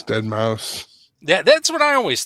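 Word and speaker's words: deadmau5: Is it Dead Mouse or is it Dead Ma 5? I think it's Dead Mouse.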